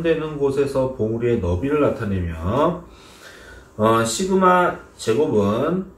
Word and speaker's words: 시그마: 요거 아까 전부터 보이던 표준 편차로 나타내는 요 표시를 읽을 때는 시그마라고 발음을 하시면 됩니다.